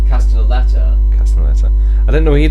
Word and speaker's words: Castellaneta: There's also Dan Castellaneta of.